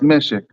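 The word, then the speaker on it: מֶשֶׁק: So it's pronounced Meshek.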